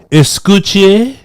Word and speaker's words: escúchame: Escúchame.